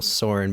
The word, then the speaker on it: Soren: It is called Quick Question with Soren and Daniel, being Soren Bowie and Daniel O'Brien.